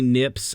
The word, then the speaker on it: Knipps: I am on TikTok, Nips on Instagram, KNIPPS, the K is silent.